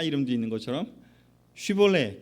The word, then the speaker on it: 쉬볼렛: 그래서 쉬 발음을 하면 괜찮은데 쉬가 안 되고 시가 되면 이제 아닌 거라고 하더라고요.